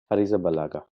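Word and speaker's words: Arrizabalaga: ওর last name কেমনে উচ্চারণ করে? Hariza Balaga.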